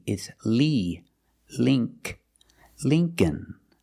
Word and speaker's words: Lincoln: e is Li link Lincoln Lincoln the second L is silent so it's remember the first syllable is a long e like green beans Lee Lincoln so remember when